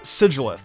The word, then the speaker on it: Sigilyph: Sigilyph is actually pronounced Sigilyph.